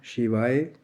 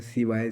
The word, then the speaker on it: शिवाय: पूरा फल मिलता है अब जैसे ओम नमः शिवाय शी श तो कई लोग आपको बहुत सारे मिलेंगे सिवाय सिवाय सिवाय उच्चारण का